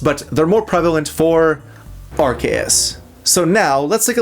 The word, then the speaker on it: Arceus: That's not to say that those arguments don't exist for Arus, but they're more prevalent for Archus.